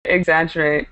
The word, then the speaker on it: exaggerate: that word is um focus on the pronunciation exaggerate exaggerate good so you'd say I